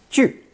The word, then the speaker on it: 聚: Pronounced fourth tone. 句.